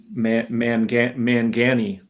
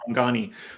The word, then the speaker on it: Mangani: I believe he says Mangani. I believe is how he pronounced it instead of Mangani. Everybody says Mangani.